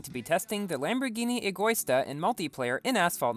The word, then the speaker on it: Egoista: today i'm going to be testing the lamborghini Agusta and multiplayer in asphalt 9 yes i finally pronounced it correctly i spent probably five to